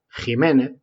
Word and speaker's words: Jiménez: la vergüenza y el cruce que estos universitarios pronuncian mal jiménez pues me obliga a hacer esta pequeña defensa